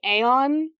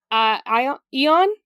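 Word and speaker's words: Aion: there's another time deity I think you want to pronounce it like Aon eon eon I want to say a i o n um and his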